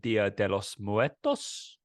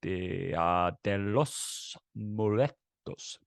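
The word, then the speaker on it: Día de los Muertos: I can't roll my R's. So can you roll your R's? No. Can you not try? Roll. No, I can't. Yeah, it's meant to be like Danny Rojas.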